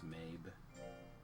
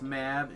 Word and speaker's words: Mab: We also could have gone with Mab. Mabe? Mab? That's what I've always pronounced her name. Considering her name is M-A-B. I'm pretty sure it's Mabe.